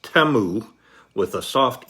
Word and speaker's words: Temu: company name um according to the ads it's pronounced TAMU with a soft e instead of the teu with the long e oh well live and